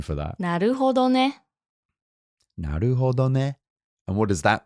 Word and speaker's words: なるほどね: So what's the pronunciation for that? なるほどね.